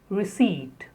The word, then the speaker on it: receipt: The next is receipt. The P is silent.